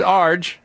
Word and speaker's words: Arj: You pronounce Melbourne incorrectly. It's Melbourne. Melbourne. They It's didn't know that. Melbourne, Yeah. and it's Arj.